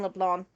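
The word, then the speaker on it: Leblanc: re hours to realize the sea wasn't was silent in Leblon okay but shotty you're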